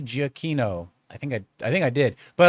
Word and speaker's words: Giacchino: Giacchino. I think I did. But a lot of times people say Giacchino. Yeah, it shouldn't be Giacchino. It's hard C.